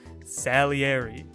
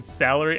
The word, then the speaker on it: Salieri: saying it you know Italian style salieri right but I was saying salary anyway that's a blunder for me I think all this time I kept looking at that I'm like yeah that's right yeah no it's Sally Eddie anyway she'd been speaking